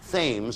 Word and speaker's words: Thames: City in Ontario, a province of Canada, that lies near the Canadian River Thames. I think it's pronounced Thames in Canada as opposed to Thames.